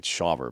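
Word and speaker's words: Shawver: inside this season um AJ Smith shaver or shover however you say his name it's shaver but that's I've never heard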